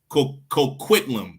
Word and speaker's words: Coquitlam: The Pickton brothers were eventually sued by Port how you pronounce this again, Salakia? Port Coquitlam? Coquitlam.